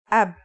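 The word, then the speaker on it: أب: It's pronounced ab.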